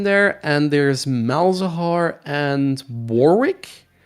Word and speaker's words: Warwick: No, there are 2 other self-stun mechanics in there, and there's Malzahar and Warwick. Or, Warwick if you're British and you actually know how to pronounce the name correctly.